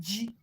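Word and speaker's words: ji: Yam is called G. G in our dialect is called G. G. Okay, G is spelled J-I. Just simple J-I. G. J-I. G. That's yam. J-I is G in our dialect.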